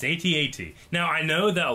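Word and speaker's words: AT-AT: from the'80s had an at at toy and that's what you called it but that's not how you say it it's at8 you know there's a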